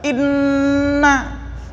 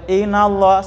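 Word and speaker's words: إنّ: Inna, jadi nggak boleh inallah, salah.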